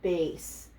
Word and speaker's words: bass: A along a sound so it's pronounced base so it's soprano alto